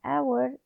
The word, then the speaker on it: hour: course you have an hour the h here is silent so the sound is which